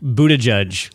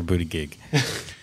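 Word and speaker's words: Buttigieg: big future I think can we have a pronunciation of the last name Buddha judge oh I was really hoping for Buddha gig that is that is close uh but I believe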